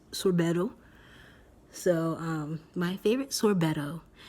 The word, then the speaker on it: sorbetto: And then for sorbet or sorbeta in Italian, however you say it, Italy, sorbetto. And it's actually pronounced sorbetto.